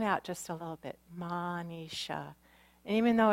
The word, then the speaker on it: Manisha: day is drawn out just a little bit Manisha even though it's spelled is H it's pronounced es H minutiae